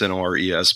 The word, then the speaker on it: Nores: It's Norris like Uncle Chuck, but the other spelling. Yeah, instead of Norris, it's Nores.